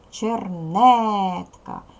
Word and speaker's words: чернетка: обов'язково діти ставимо наголос чернетка наголос ставиться над звуком що позначає голосний Ось вона над голосний перший склад і третій склад не наголошені другий склад наголошений бо на нього падає наголос поділи на склади для